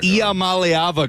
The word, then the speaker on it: Iamaleava: We learned to pronounce your name for you. You got a bunch of East Tennessans saying I am Mallayava correctly.